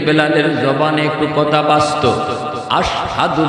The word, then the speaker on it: আশহাদু: এজন্যই বেলালের, এই জন্যই বেলালের জবানে একটু কথা বাসত, আশহাদু বলতে পারতেন না। আসহাদু কইতেন, শিন উচ্চারণ করতে পারতেন না, সিন বলতেন, সিন বলতেন।